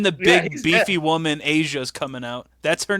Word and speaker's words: Asya: And then the big he's beefy woman Asia's coming out. That's her name. Okay, It's okay, Asia. Okay, why? She's huge. Why this big, buff, white, blonde woman? Name Asia Asia.